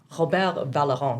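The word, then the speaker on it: Vallerand: he's a Canadian scientist, Robert Valleron. He's French, so I will say it like that.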